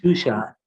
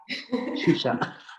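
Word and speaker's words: Zsuzsa: Aparte que también los apellidos, etcétera, los nombres que son impronunciables, ¿no? ¿Cómo le dijiste a Susan? Perdón. Shusha. Shusha.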